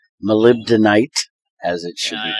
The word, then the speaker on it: molybdenite: because he added osmium as a byproduct of mala bentonite molybdenite as it should be pronounced I actually learned how it's properly done